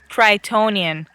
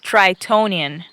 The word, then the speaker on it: Tritonian: tonian jungle is hot tronan what it's pronounced tritonian that's what I said tronan tritonian with a t in the Middle come on Aurora does